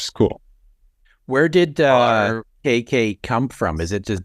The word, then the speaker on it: K Cay: gotten a lot of people say casy they go casy they go casay they just go k